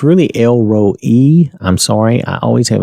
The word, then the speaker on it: El Roi: is Elroy and I'm saying it it's really L row e I'm sorry I always have a tendency to say Roy but it's really l rho e the way